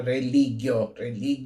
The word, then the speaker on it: religio: A palavra religio, na pronúncia restaurada, religio, religionis, ou religio, religionis.